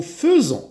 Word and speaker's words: faisons: Nous faisons. Attention, j'écris AI et je prononce E.